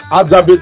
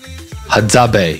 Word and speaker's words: Hadzabe: You pronounce it as Hadzabe tribe. Hadzabe.